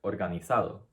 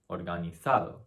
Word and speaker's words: organizado: If the word ends with a vowel, the stress always lands on the penultimate syllable, which is the second to last syllable of the word. We have words like organizado, organizado. We emphasize the th.